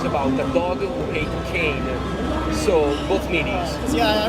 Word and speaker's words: Cane: And before we get started, do you pronounce this game Super Kane or Super Kane? Oh, and actually it's Super Kane Magic Super Zero. Kane Magic Zero, okay. But you were right. Kane is also an Italian word. It means dog.